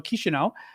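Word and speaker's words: Chișinău: I learned that I learned today how to pronounce the capital of Moldova kishinau would be forced so basically do what they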